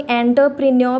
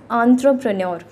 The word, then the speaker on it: entrepreneur: आगे हम आते हैं एंटरप्रेन्योर, इसको कुछ लोग एंटरप्रेन्योर प्रोनाउंस करते हैं, that is the wrong pronunciation, please pronounce it एज एंटरप्रेन्योर, ठीक है।